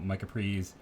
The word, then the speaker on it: Micah Prees: I think I've been saying instead of Micah Prize, it's Prees. So Micah Prees, stated many times, pronunciation, always something that escapes me.